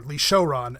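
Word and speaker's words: Li Syaoran: This is Lee Shaoran, or Lee Shouran, as it's pronounced in the Nelvana dub, as we'll find out.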